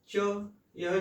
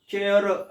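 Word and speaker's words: chair: तो यह 2 है, और पहला इसमें है च, इसका चिन्ह है च, देखिए च, यह च है।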